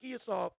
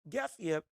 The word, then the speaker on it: Gassiev: Then you got Gassiev, well, I'm saying his name wrong. It's not Giasov, Gassiev, Joseph Parker, and then Moses Atalma.